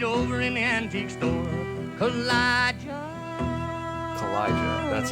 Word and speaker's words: Kaw-Liga: Kaw-Liga, that's how it's pronounced.